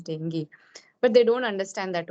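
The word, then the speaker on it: dengue: pronouncing it wrong so when I told somebody that I had dingi so he was correcting ma'am it's not dingi it's dangu then I told that no the right pronunciation is dingi but they don't understand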